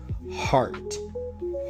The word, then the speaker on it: heart: that this is said, the e is actually silent. Yeah. R art. And it almost sounds like you want to take this E away, so it's heart, heart, heart.